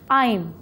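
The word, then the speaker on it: ऐं: माँ सरस्वती का बीज मंत्र है जिसको ए ऊपर मात्रा और बिंदी होती है, उसकी प्रोनाउंसिएशन है आइम।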